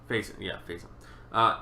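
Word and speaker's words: Facyson: Pronounced Faison. Faison.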